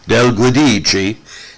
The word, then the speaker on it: DelGuidice: DelGuidice, I pronounce it DelGuidice, just like kind of an Italian Spanish version.